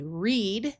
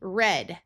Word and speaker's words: read: Here we have two different ways we can pronounce this word. It can be read, the present tense, or with a short e, read, the past tense.